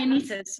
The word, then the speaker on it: Dionysus: Dionysus, I pronounce it that correctly? Dionysus, yeah.